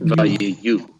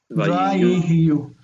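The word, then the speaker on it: ויהיו: Yeah, it says you. You, okay. It's ya-u. Vayiyu. Vayiyu. This is a kind of odd one because that shva is a medial shva.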